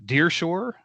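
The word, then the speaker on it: Der Pschorr: it was it was a place called uh Deershore but it's spelled D E R P S C H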